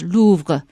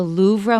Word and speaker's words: Louvre: If you say it with a French accent, it's Louvre. But American pronunciation is the Louvre, more than a museum.